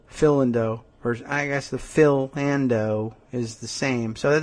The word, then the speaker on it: Philando: in a creditable way everybody says philando like philando calisan I don't know whether that's really right because uh that does it's a I guess it's a weird pronunciation because philando like is like philanderer which you would think